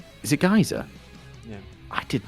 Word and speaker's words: Giza: There was the one scene where they were in the the Great Pyramid of Giza, and there's that like chamber in the center of it. Pronounced And Giza? is it Giza?